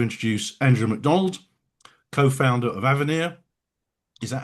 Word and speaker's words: Avenir: Delighted to introduce Andrea MacDonald, co-founder of Avenir. Is that how it's pronounced, Andrea?